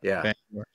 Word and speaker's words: Bangor: Bangor.